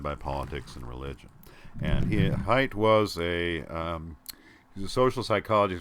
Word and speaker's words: Haidt: by Jonathan Haidt, is how you say it, Haidt, published in 2012. The Righteous Mind: Why People Are Divided by Politics and Religion. Righteous Mind: Why Good People Are Divided by Politics and Religion. And Haidt was he's a social psychologist.